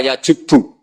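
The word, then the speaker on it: يجبّ: Itu bacanya bukan yajibu tapi apa? Yajubbu a yaq lah.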